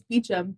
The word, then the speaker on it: Beauchamp: name literally is Beecham, but it's Beauchamp. Mm. Beauchamp, but Beecham.